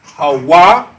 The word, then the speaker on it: Hawa: He is Hawa. The ha, the wa, and the ha, but the last H is silent.